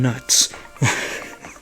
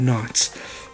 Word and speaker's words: Knotts: I said his name wrong because I was a child. I called him Don Nuts. Not Don Knotts.